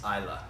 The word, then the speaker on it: Islay: beginning so what like as you know in comparison to the word island okay it's is l8